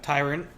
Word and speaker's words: tyrant: Tyrant. Virus. T is for tyrant. That stands for tyrant and rhymes with pirate.